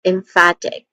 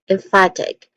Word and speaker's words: emphatic: When it comes to pronunciation, we have um emphatic. So there are three distinct sounds here. Let's start with M again. M. Next to that is fat. Fat which has a short a vowel sound and then egg short e vowel sound. So all in all this is emphatic.